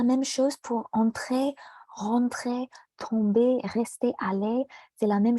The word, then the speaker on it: tomber: Oui, juste la même chose pour entrer, rentrer, tomber, rester, aller. C'est la même chose. Il n'y a pas de R dans le ER. On ne prononce pas le R.